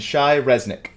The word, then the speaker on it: Shai Reznik: there and and and Shai Resnick good you pronounce it correctly excellent nice look all